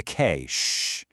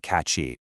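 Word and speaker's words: cache: And when you clear those temporary files on your mobile phone, you are clearing the K. Sh, which is pronounced exactly like money cash. Definitely not catchy.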